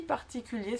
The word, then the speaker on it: particulier: ER à la fin du mot c'est toujours E. Absolument pas de prononciation du R.